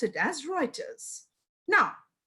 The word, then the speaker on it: Reuters: And it is mostly published by Thomson Reuters, although the spelling is Reuters, but we pronounce it as Reuters.